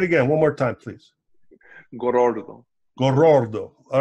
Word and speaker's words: Gorordo: I mean, he rolls the R at least 18 times when he says, but Joseph Gorordo.